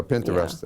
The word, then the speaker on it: Pinterest: Pinterest and Facebook okay I know what paint the rest is I Pinterest I pronounce that Pinterest yeah okay okay so